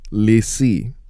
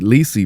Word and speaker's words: Leslie: Leslie Valentine, pronounced Lacey. Okay, Lacey Valentine.